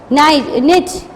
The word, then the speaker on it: knit: Knit, knit. K is a silent word in the knit.